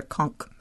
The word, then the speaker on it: conch: it a little different the locals pronounced the konk konk that's right are you